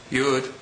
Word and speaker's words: Yud: next letter is UD yud is just like the Standard English Y sound as in your sometimes when certain vowels